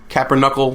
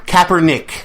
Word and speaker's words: Kaepernick: Yeah, Kaepernuckle. What are we going to call this guy? What's his real name? I don't even know how to say his name. Is Kaepernick.